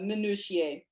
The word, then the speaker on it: minutiae: would be the focus on the minutiae or the minutia. People pronounce it a different ways.